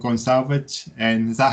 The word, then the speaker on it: Gone Savage: And today I've got a band from England called Gonesavage. And is that how you pronounce the name?